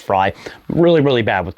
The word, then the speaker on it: Frey: May the current incumbent, Mayor Frey or Mayor Fry. I I somebody corrected me earlier. I think it's pronounced Fry.